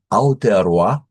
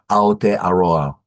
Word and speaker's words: Aotearoa: Aotearoa, Aotearoa.